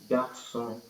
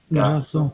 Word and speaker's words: garçon: So les Garçon, garçons. Garçon. garçon, Okay, perfect. garçon, It's garçon, ga. garçon, Garçon. garçon, You know, you can divide the sound saying ga first and then r and then son.